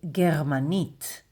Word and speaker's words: גרמנית: German in Hebrew is gmanit. German gmanit. Gmanit. Gmanit. Gmanit.